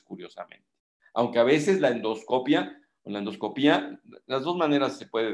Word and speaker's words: endoscopia: Los españoles directamente en castellano dicen endoscopia, si quieren ustedes saber, porque no lleva acento. Nosotros acostumbramos a decir endoscopía, pero no acostumbramos a acentuarlos. Curiosamente hay que ponerle tilde si queremos nosotros pronunciarlo así.